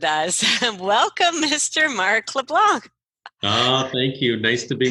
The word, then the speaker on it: LeBlanc: French spin on everything so I would say LeBlanc with a silence see do you pronounce the C or not well in Minnesota